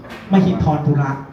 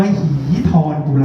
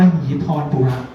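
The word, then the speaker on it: มหิธรปุระ: ราชวงศ์ นึง คือ ราชวงศ์ มหิธรุระ อ่าน ให้ ถูก ตาม สันสกฤต ต้อง อ่าน ว่า มหีธร ปุระ นะ ไม่ห้ เนี่ย ต้อง อ่าน ว่า มหีธร ปุระ ซึ่ง มหิธร ปุระ เนี่ย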